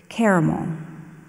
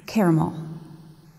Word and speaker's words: caramel: Your word is caramel. Do you have a repronunciation? Alternate pronunciations? Repronunciation. Oh, yes. Caramel.